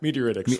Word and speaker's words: meteoritics: Is it meteoritics? Is that how you pronounce the field? Yeah, meteoritics.